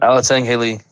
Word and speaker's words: Alatengheili: Alatengheili. Is that how it's said? Alatengheili. It is, you do say the H.